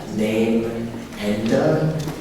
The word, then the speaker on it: Namenda: It's also called Namenda, Name-enda.